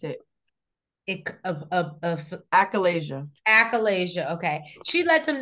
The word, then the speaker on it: achalasia: I She lets finally him know how to pronounce it. Achalasia.